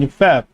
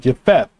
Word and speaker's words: Japheth: It's pronounced Y-E-P-H-E-T-H. Japheth.